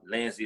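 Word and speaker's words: Lenzy: same thing on twitter i'm lindsay d-e-b-o-n-a-i-r lindsey is spelled l-e-n-z-y cause i played with my last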